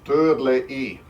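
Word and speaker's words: Törley: I think he tumbled because I mispronounced the Hungarian. It's called Turley.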